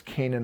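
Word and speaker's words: Canaan: a i n whereas Canan of the Jerusalem is c a n a n right so they're spelled differently but there the same word phonetically anyway so the point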